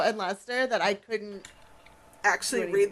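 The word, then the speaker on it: Leicester: I practice so much to pronounce slow and Lester that I couldn't actually read the bio.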